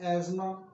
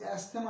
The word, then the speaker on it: asthma: का मसले को हम एजमा वैसे कई लोग इसको एस्मा प्रोनाउंस करते हैं लेकिन वो गलत है एजमा इसकी करेक्ट प्रोनंसिएशन यानी कि सांस का तकलीफ